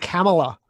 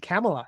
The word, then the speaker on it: Kamala: I think it's pronounced Kamala, believe it or not. Whatever. It's weird. Kamala. It's like Pamela with a K.